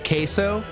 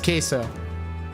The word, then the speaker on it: queso: bro this is awesome you pronounce it like the sauce queso okay thank you yes queso I appreciate that thank